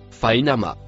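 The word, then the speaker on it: فإنما: Le mot en vert se prononce fainama.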